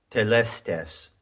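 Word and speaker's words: telestai: of those words is telestes now that is an anglicized pronunciation of the greek word that word is plural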